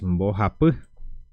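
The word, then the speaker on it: mbohapy: número tres en guaraní número 3 es boap Bo de esta manera así se pronuncia número 3 Bo número 3 número cu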